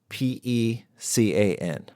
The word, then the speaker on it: pecan: Okay, Martha Stewart, how do you pronounce P-E-C-A-N?